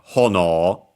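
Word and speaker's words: 炎: Because, yeah, it's a strictly Japanese word, accent on the first syllable, hono, actually a compound.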